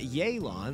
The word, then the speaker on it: Yelan: in 2.7 we've got yaylon that's how you pronounce her name after the trailer and